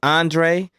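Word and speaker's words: Aundray: This man's name is Andre, but it is spelled like you were saying auntie, A-U-N, and Dre, D-R-A-Y.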